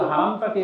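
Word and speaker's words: حرم: কিন্তু তারা হারাম উচ্চারণই করতে চায় না। ওই উর্দু থেকে আসছে, পাকিস্তানে যেমন বলে হেরেম শরীফ, ইন্ডিয়ানরা বলে, তো বাঙালিরা ওইটাই শিখছে না।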